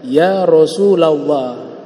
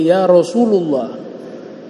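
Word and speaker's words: يا رسول الله: dan mengangkat derajat kalian Rasulullah dibacanya Ya Rasulallah enggak boleh ya Rasulullah itu juga kaidah dalam bahasa Arab jadi baca kitab itu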